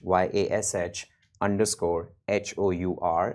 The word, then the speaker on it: Yash Hour: It's Yash, YASH _HOUR. It's Yash Hour, rhymes with rush hour.